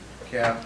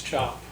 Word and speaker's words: Cap: entrance application for Stanley Cap. It'd be, if you guys are familiar with 435 in the gun range on the Utica Road. It's not cap, it's chop. Well, Spelled like Cap.